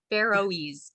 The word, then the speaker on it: Faroese: Faroese.